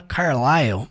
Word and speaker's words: Carlisle: diz Fair Words Carl eu acho interessante o jeito que se pronuncia o nome do Carl porque se escreve carlisle e se fala Carl né não tem nada a ver com a escrita e então ele disse